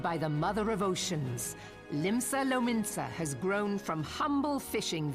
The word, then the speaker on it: Limsa Lominsa: That day, the world bore witness to the united strength of Limsa Lominsa. I was right. That's how you pronounce it.